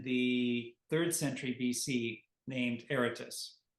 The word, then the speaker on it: Aratus: 3rd century BC named Eritus. Yes. And that's spelled with an a. It sounds like it's spelled with an e, but it's or some some people might say aratus.